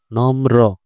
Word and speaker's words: নম্র: দন্তন্য ম রফলা, নম্র, ভদ্র। তাহলে দেখো শ্রম বৃথা যায় না, শ্রম বৃথা যায় না, নম্র। রফলা যেহেতু তাই এটা র উচ্চারণ হবে, দন্ত ন হবে উচ্চারণ